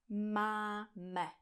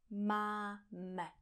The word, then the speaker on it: máme: A pokud tady aplikujete anglickou výslovnost a řeknete něco jako máme, použijete tam ten neutrální zvuk, to takzvané schwa, tak já si nebudu jistá, co chcete říct, protože e v češtině není vokál. Takže já nebudu rozumět.